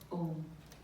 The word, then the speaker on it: Om: And that highest mantra would be a simple syllable, which all of you know is Om. Om has 3 syllables into it. A, U, and Ma, which denotes the waking state, the dream state, and the sleep state.